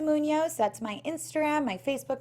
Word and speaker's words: Munoz: And my last name is Munoz, Munoz.